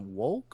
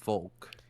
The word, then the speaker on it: Wolk: Um, anyway, there's a 3D modeler by the name of is it Volk or Volk? I think it's pronounced Volk, but it I think, is yeah, WOLK.